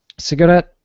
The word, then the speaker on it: cigarette: well but uh um in North American pronunciation we hold it we do not release it and that's the way